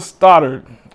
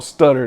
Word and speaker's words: Stoddard: But that is Alyssa Stoddard uh or stutter depending on how you want to pronounce it or whatever.